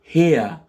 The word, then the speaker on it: hair: Ici, les cheveux, en anglais, ça se dit hair. Hair, parce que les lettres A et I sont prononcées avec le phonème E, A, here.